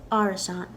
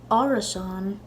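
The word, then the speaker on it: árasán: just to be safe I have arisant but maybe one of y'all knows if Arison is a valid pronunciation for it in Ulster and you can tell me down below in the comments now in conic and Munster a fathers are always pronounced all so this would be arasan in Connect and monster in Arizona so whatever dialect you learn and just say it that way now some lucky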